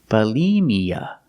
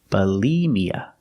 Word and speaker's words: bulimia: disorder is called bulimia pronunciation for the first syllable use the short uh second syllable use the long e like green beans Bali Mia put the stress on the second syllable bulimia bulimia is an eating disorder